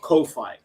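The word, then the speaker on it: Ko-fi: But the way you spell it is KO dash fi. Like hi-fi but kofi.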